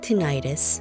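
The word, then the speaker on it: tinnitus: with your index fingers this is good for tinius or some people pronounce it tentis and headaches when you maintain a healthy body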